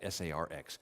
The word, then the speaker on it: sarx: word for flesh is sarx um it it's it's spelled differently because the greek alphabet has different letters but it's pronounced like that s-a-r-x sarx that is one of